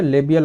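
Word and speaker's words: labial: अब फेसियल artery की दोनों ब्रांचेस हैं, लेबाइल आर्टरी, ठीक है, लेबाइल आर्टरी, ठीक है, लेबियल आर्टरी या लेबाइल आर्टरी जैसे भी आप प्रोनाउंस करने चाहो कर सकते हो, ठीक है।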